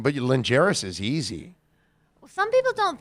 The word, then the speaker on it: Lingeris: Lingeris, right? Is it pronounced?